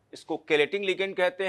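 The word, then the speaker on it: chelating: Density 2 है, और इसी को हम लोग कैलेटिंग लिगेंड भी कहते हैं। हालांकि इसको कुछ लोग चेलेटिंग लिगेंड के नाम से भी प्रोनाउंसिएशन करते हैं, तो आप जो भी आपकी मर्जी हो, है ना। जैसे हम लोग केमिस्ट्री को चेमिस्ट्री नहीं बोलते हैं, तो एक्चुअली बेसिकली कैलेटिंग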